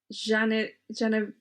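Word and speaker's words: Janiszewski: So if it's a W, it makes a V sound.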